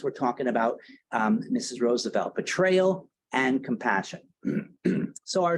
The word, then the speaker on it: Roosevelt: Franklin side generally speaking the uh Roosevelts of the Hudson Valley pronounce their name Roosevelt and the folks that are from Oyster Bay will generally pronounce their name as Roosevelt so if you hear somebody talking about Teddy Roosevelt that's right if you hear somebody talking about Franklin Roosevelt they're really using the wrong um pronunciation so um you know